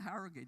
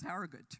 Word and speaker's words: Harrogate: and then I realized oh it's not Harrogate it's Harrogate right so I mean English